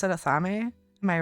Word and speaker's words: athame: This is what happens when you don't have other people to bounce words off of growing up, because they also mispronounce everything. A theme.